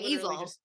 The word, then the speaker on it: Easel: Like an easel.